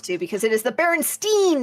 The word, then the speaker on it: Berenstain: Yeah, Berenstain Bears. Yes, I know. Pronounced Stain, but spelled Stein.